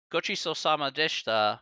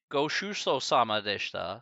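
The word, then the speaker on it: ごちそうさまでした: things about japanese is say you say gochiso samadeshta means thank you for the meal like hey thank you for the meal or whatever kind of you know um however if you do say it wrong you say goshuso samadeshta so kochi samadeshta or goshu samadeshta means thank you for the meal means my condolences so you have to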